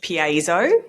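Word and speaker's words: Piezo: So it's pronounced PZO.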